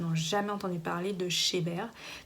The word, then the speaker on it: Chebhair: jamais entendu parler de chez bear donc ça s'écrit chez b sauf qu'on me retire le et on met h ah oui quand-même cheveux en anglais donc j'aime bien le